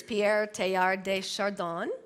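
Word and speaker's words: Pierre Teilhard de Chardin: I I listened to this on how to pronounce this Pierre tar de shardon um this is his description of how new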